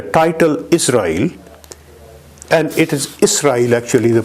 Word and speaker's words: Israel: should be pronounced as Israel with scene with s not with z his sons are mentioned